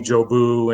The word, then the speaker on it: Jeauboux: Corps they one of the platoon sergeants couldn't pronounce my last name and so he would just call me Joe boo and it just kind of stuck okay yes